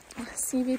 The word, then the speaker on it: Seavey: I believe it's pronounced Seavey. S-E-A-V-E-Y. CV Pass.